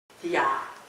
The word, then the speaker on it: Dia: Dia, that's how he pronounces himself.